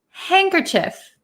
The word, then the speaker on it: handkerchief: h i e f so it really looks like hand Cur chief hand occur Chief um in American English we pronounce it handkerchief handkerchief some people also pronounce it handkerchief but both are okay most Americans will pronounce